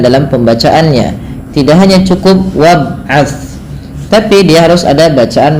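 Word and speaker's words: وَابْعَثْ: wab wabat wabat fihim hati-hati di dalam membaca huruf tsa ya ini tidak boleh Terganti dengan bunyi suara Sin beberapa kesalahan yang terjadi di dalam membaca huruf ta adalah menggantinya dengan Sin contoh bunyinya wabas nah padahal huruf T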